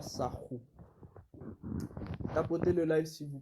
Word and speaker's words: Sahu: Bon, on dit Sahu Parce qu'en fait, c'est roulé en fait par rapport en fait au copte. Mais si vous voulez, ça s'écrit S-A-H-U. Donc, si vous voulez, ça s'écrit Sahu. Mais on roule en fait le R pour faire Sahu.